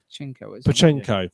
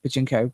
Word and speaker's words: Pachinko: It's called, now I've got to get this pronunciation right. Pachinko.